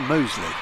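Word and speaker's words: Mousley: And actually the other one, which I didn't know about and wouldn't probably have asked, is that it may be spelt Moseley, but it's actually pronounced Moseley.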